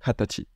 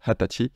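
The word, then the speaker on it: 二十歳: pour 20 ans c'est hatachi voilà hatachi ça s'écrit vous voyez un N sa mais ça se prononce généralement hatachi et ça veut dire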